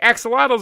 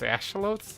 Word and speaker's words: axolotl: and then Minecon went on and they're like axolotls are being added to the game I was like wait aren't those things pronounced ashalotes and I was like a shovels or something